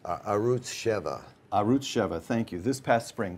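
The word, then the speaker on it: Arutz Sheva: will now mispronounce this arut how is it pronounced arut cheva arut cheva thank you this past spring quote quoting you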